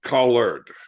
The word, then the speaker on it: collard: that or spell it c o l l a r d so it's collared Not collar okay yeah yeah there's a d on the end but it's like cabbage you